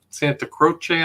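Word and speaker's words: Santa Croce: the family burial is at the church of Santa Crochce, I think is how it's pronounced.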